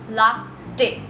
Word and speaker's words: latte: the next coffee is latte the correct pronunciation is la day now this is one